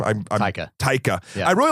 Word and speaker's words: Taika: And I' I've really liked um how do you how do you pronounce his first name? I'm Taika. I really like Taiger ever since uh I think the first thing I saw was what we do in the shadows.